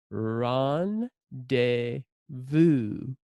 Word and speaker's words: rendezvous: run des Baux okay pronunciation is different because it's a French word in English run des